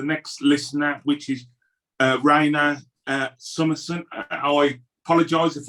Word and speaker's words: Rhiana: uh invite the next listener which is uh raina uh summerson i apologize if i've not uh pronounced your name correctly that was perfect friends